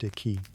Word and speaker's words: qi: At the heart of acupuncture is the concept of qi, pronounced qi, the life force or energy that flows through the body along invisible channels called meridians.